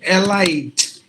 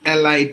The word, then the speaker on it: elite: e example not uh not Elite not a lie because there is a e we tend to pronounce it like Allied now it should be like this elite elite that's how we have to pronounce this word likewise all these words